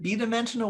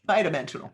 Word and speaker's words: bi-dimensional: i didn't learn it is it b dimensional or bi-dimensional somebody i've always heard it bi-dimensional thank you bye dimensional so everything is bi-dimensional